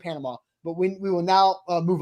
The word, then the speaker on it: Panama: But you also don't say Kansas and Arkansas, right? It's not like it's a different word, so it has a different pronunciation. It is absolutely Panama.